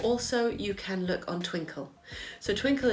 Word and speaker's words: Twinkl: Barton maths or also you can look on twinkle so twinkle it's traditionally a primary school resource it's spelled Twi and KL but it's free at